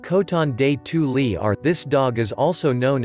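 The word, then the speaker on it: Coton de Tuléar: Pronounced Coton de Tulier, this dog is also known as the Royal Dog of Madagascar.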